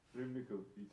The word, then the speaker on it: Râmnicu: And how do you pronounce this? Râmnicu, yeah.